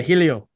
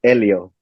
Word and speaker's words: Helio: Yeah, Helio. Well, it's pronounced Elio, Elio.